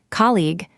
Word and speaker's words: colleague: Start with colleague, put the strong beat first. The second part has the long sound in C and finishes with a hard G.